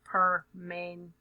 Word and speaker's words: permanganate: So you kind of say every syllable there. Don't skip them. So permanganate.